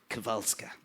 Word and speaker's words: Kowalska: Koreksyonan mi atong pari nga Polish. Kowalska. Kowalska din ang pagka-pronounce na.